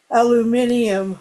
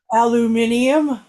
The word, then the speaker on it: aluminium: it's two pieces of Aluminium. I'll use the British pronunciation. Go say it again. Aluminium.